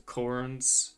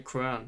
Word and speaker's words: Quran: You know, he wanted to go around and hey, let's burn some Korans. How do you pronounce it in English? Koran? The Koran? Quran? The Quran, yeah.